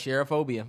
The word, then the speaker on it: cherophobia: Yeah, it's cherophobia.